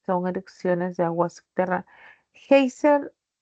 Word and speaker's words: géiser: Geyser es una palabra que sería grave, ¿no?